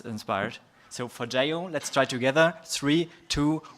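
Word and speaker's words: Forgejo: So I want to practice with you how to pronounce forio.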